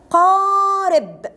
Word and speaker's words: قارب: هنا عندي، تعالوا نشوف الكلمات بتاعتي، كلمة قارب، ق ق، حرف القاف، حرف قوي.